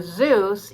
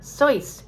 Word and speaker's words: Seuss: in my classes and we call the author dr zeus even though he originally pronounced his name as dr seuss as in german but again it was mispronounced so much that he said okay okay i'll be dr zeus because sometimes when a word is wrong for so long by so many it becomes right and that's one of them